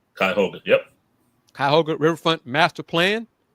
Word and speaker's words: Cuyahoga: Will, how you pronounce that? Cuyahoga? Cuyahoga, yep.